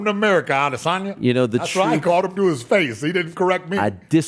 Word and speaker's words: Adesanya: LAST WEEK, WE FOUND OUT THAT, UH, ISRAEL ADESANYA IS LEAVING HIS TEAM, HIS LONGTIME. HOLD UP. YEAH. YOU JUST PARADIGM SHIFTING ME RIGHT NOW. YOU SAID ADESANYA. SO IT'S ACTUALLY PRONOUNCED ADESANYA ADESANYA ADESANYA THAT'S THE UDIS ON ME, FOOL.